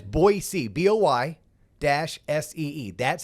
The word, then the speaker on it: Boise: Austin they all went to Boise and it's Boise Boi Dash s-e-e that's how it's pronounced it's not Boise it's boy C like Boise Boise Idaho yep so had a